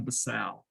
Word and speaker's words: basale: of the skin now the correct pronunciation for number one is the stratum basale i say basal e so when you spell it on the test you don't forget that there's an e on there and i'll do that